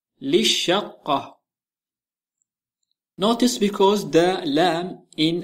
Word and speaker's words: للشقة: Say for the apartment للشقة للشقة Notice because the lam in الشقة is silent. Although للشقة has double lam, the second lam remains silent.